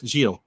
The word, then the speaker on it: Gilles: Gilles or Giles. I'm sorry, I'm having Gilles. trouble. Don't pronounce the S. Gilles.